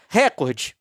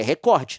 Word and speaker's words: recorde: Isso significa que a sílaba tônica é o cor e não o re. É recorde, não é record.